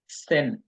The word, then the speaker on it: zehn: আক, আক, এখন নয়েন, নয়েন, জিম, সেন, জেন উচ্চারণ হচ্ছে সেট, সেট, সেন, সেন, সেন, সেন, সেন, উচ্চারণ হলো সেন।